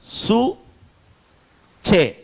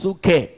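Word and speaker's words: ψυχή: சிலர் அதை சூக்கேன்னுவாங்க. சூச்சே. கவனிங்க. சூச்சே அல்லது சூக்கே. சொல்லுங்க சூக்கே. சூக்கே சொல்லுங்க. சூக்கே இல்லைன்னா சூச்சே அப்படி சொல்லுவாங்க. CHEKன்னு சொல்லுவாங்க. ஆமா, அப்படி 2 விதமா ப்ரொனவுன்ஸ் பண்ணுவாங்க. பட் சரியா அதை சொல்லணும்னா சூச்சே அப்படின்னு சொல்றது கரெக்டா இருக்கும். சூச்சே.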